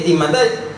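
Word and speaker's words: στίγματα: Pero la palabra se pronuncia así, stigmatai.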